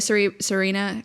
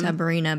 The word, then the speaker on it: Sabrina: We got a new Serena Carpenter album. Sabrina Sabrina. I knew I said it wrong. I was like, "Something sounds wrong."